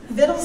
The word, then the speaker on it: victuals: book is bills and vittles is the absolute correct and always has them correct English pronunciation of the word that has spelled VI si tu ALS meaning we've been right